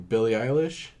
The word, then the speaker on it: Billie Eilish: I've started listening to what is her name Billie Eilish that's how you say it yeah yeah I